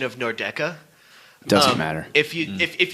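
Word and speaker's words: Nordecke: For one, the proper pronunciation of Nordeca. Doesn't matter. If you if you Nordec. care about how to properly pronounce it, Nobody it's cares. Nordeca.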